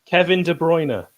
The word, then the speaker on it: De Bruyne: Kevin De Bruyne.